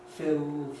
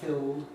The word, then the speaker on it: fill: like fill, filling, filled, fill, dark L, filling, clear L, filled, dark L. And, well, the trouble is, of course, that the first of these, it might be fill in isolation, but if I say fill it all up, fill, it's going to be a clear L because of what follows.